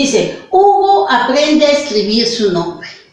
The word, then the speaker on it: Hugo: se escribe así, sino con la consonante H, que es muda, y luego escribimos la vocal, y esta es la forma correcta en que se escribe U.